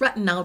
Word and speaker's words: retinal: take on retinal and it's retinal dehy not retinol spelled with an O um and I think